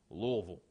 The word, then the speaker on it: Louisville: say it right because she corrects me it's Louisville Kentucky Louisville now how do you pronounce it how you'd like but they say